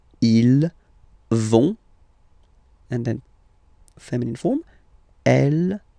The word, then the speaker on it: ils vont: So ils vont, final T not pronounced, ils vont, and then feminine form, elles vont.